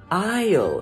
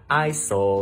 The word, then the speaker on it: aisle: Aisle, nhớ cái chữ này nó có chữ sờ đó. Aisle, nhưng mà mình đọc là aisle chứ không phải là isle hay là isler gì đâu nha.